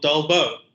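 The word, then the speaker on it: Dolbeault: by some of Frenchman called dobo which sounds a lot like delbo anyway um these are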